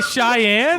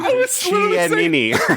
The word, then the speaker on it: Cheyenne: Randall, you don't know how to say Cheyenne? Chianini.